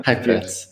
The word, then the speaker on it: Heipertz: Is that the right pronunciation? Heipertz, yes. Yeah. Heipertz.